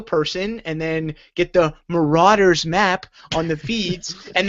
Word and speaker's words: Marauder: Marauder.